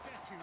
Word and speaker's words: Fetu: So Coach Fetu, spelled F-E-T-U, for the longest time I was pronouncing it Coach Feta, like feta cheese.